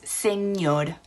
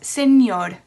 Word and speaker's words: señor: So 1 R would be pronounced just how we pronounce the words. For example, the word Mr. is señor.